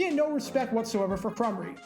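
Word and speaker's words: Krumrie: no respect whatsoever for crumry saying that he had no idea who he was and then mispronouncing his name to make it sound like tim crummy rafferty was about to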